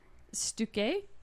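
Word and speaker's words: Stücke: How do you spell it? S-T-U with the I don't care. thingies over top. Yeah. C-K-E. Stuke. Stuke? Say it that way. Say Stuk. Stuk. That sounds more German.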